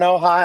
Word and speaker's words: Ojai: Am I pronouncing that correctly, Clancy? Is it Ojai? Yeah, we're in Ojai.